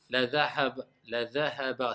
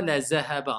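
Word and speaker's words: الذهب: Et c'est pas la zahaba, hein, parce que certains, quand ils prononcent le dhal, on dirait que c'est le zay.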